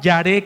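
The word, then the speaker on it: יָרֵא: Esta palabra temor en este contexto del hebreo es la palabra yaré con y acento en la e. Iba a decir asenta en la última e. Pues, ¿cuántas es tiene? Verad. Yaré.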